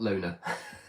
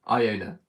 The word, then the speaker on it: Iona: Is it Iona? Sorry, not Lona. Sorry. Iona. Sorry for the early mispronunciation.